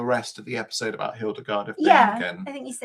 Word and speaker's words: Hildegard of Bingen: Oh, I think it was to write the rest of the episode about Hildegard of Bingen.